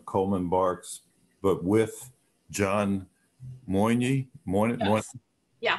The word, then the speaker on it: Moyne: Like this Rumi, it says that it's Coleman Barks, but with John Moyne. Yes. Yeah. How do you pronounce his name?